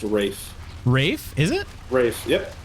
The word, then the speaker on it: Ralph: Rich lady hires Voldemort Ralph Vienna yeah yeah Ralph uh did you know that say what it's actually pronounced Rafe Rafe is it race